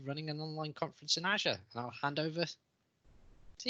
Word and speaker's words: Azure: I did that in Azure, or Azure, wherever you're from and whichever way you pronounce it. We'll go with the American Azure because, well, they're the boss a little bit.